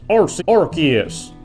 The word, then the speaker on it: Arceus: howdy howdy ho it's pronounced rc arceus i just wanted to get that psa out